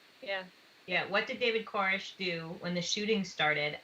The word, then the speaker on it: Koresh: Koresh. Yeah. Yeah, what did David Koresh do when the shooting started at Mount Carmel Center?